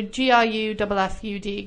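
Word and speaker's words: Gruffudd: And then Gruffud, I think? Because if you think of Cymru, the U is a Y sound. Yes. So Gruffud, Gruffud.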